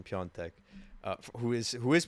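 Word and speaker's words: Piątek: but but Christopher yeah John Tech sorry the proper pronunciation piontech uh who is who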